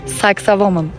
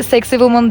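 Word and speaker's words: Sacsayhuamán: Bir İnka Mühendislik harikası sexa woman söyleyemeyenler sexy woman diye de telaffuz ediyor olabilir ama bugün telaffuzunda daha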